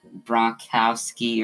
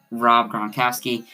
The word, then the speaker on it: Gronkowski: so yeah um but i pronounced gronkowski and beckham wrong um so yeah i was i said like uh uh i forgot what i said i was like yeah like i i actually pronounced it two two different times very wrong i said like berkowski bronc bronchowski or something like that i don't know i said it terribly so rob gronkowski you're